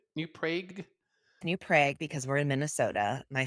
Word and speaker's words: New Prague: New Prague, because we're in Minnesota. My father was very much a New Prague, because that's how you say it in Czechoslovakia. Growing up in a small town was difficult.